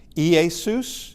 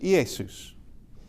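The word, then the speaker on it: Ἰησοῦς: EOD is I as in magazine or pit. Uh and it could it could be either way depending. Uh and uh Easus is the name of Jesus in uh in Greek.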